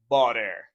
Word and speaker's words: butter: Even though you see butter, but when you have T between two vowel sounds, you make a flap T and you pronounce a little D. You say butter.